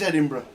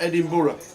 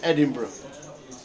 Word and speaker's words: Edinburgh: How would you pronounce Edinburgh as a foreigner? That's how Edinburgh sounds when you say it. It is Edinburgh. It's not Edinburgh. It's definitely not Edinburgh. It's Edinburgh.